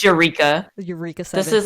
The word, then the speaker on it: Eureka: remember seeing this and i was like what eureka they're like no it's uraka i was like what it's eureka eureka this is like the same argument we